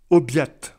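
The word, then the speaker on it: obiad: le déjeuner se dit Aubiat Aubiac attention bien prononcer le D comme un T parce que c'est un D placé en fin de mot Aubiac évidemment c'est le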